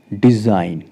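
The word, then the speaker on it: design: एन से पहले जी है साइलेंट रहेगा कैसे प्रोनाउंस करेंगे डिजाइन उसका अर्थ है रचना रिजाइन रिजाइन करना त्याग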